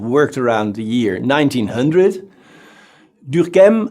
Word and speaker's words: Durkheim: Durkheim, I try to pronounce his name the French way, but maybe I will forget it later and give it a more German sound.